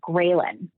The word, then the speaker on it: ghrelin: But ghrelin is the opposite. Hey, you need more. Ghrelin is spelled g r e h l i n, but I remember it as like a gremlin.